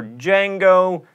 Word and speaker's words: Django: Aphthongs are silent letters in words like knife, or fight, or Django. This might be something that you already canoe.